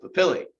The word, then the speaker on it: papillae: tongue okay and uh if it's plural it has the e at the end so we pronounce it papillae okay there's four types